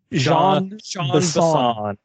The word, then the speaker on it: Jean: the first one with john bison or jean bison his name is john he has a french he has a french pronunciation name and he's the most